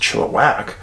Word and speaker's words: Chilliwack: was corrected very soon after moving here it's pronounced chilliwack in july 2016 and recall well the missing